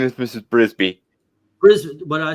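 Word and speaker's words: Mrs. Brisby: scenes in them I mean the uh Mrs frisbee trying to save her house as the M came down by the way but secret yeah what what' you say her name is Mrs brisbee bris what did I say frisbee oh okay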